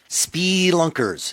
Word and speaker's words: spelunker: He went out of his way to say spee. No? I just me? take it as the softer E, not the short E, spelunker, as you say.